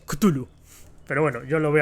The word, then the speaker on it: Cthulhu: Cthulhu, Chulu, Cthulhu, Cthulhu, Zuzulu. Bueno, nunca lo sabremos. No, en realidad sí, sabemos que en teoría creo que la pronunciación es Cthulhu.